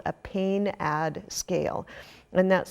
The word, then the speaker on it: PAINAD: medicine, is the use of something called a pain-ad scale. And that's spelled PAINAD, and it's really useful in dementia